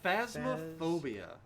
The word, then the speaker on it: Phasmophobia: We're going to be joining in on the ghost hunting craze, and we're going to be playing, how's the pronunciation of the game? Phasmophobia.